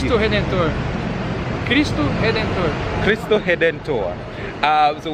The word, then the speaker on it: Cristo Redentor: How do you say it in Portuguese? Cristo Redentor.